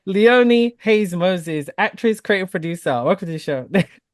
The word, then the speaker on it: Leonie Haynes-Moses: was getting it right I felt like it was Moses Hayes sorry guys it is Leone Hayes Moses actress creative producer welcome